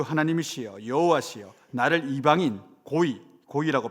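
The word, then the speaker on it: גוי: 우주의 왕이시여, 우리 주 하나님이시여, 여호와시여, 나를 이방인, 고이라고 발음하거든요.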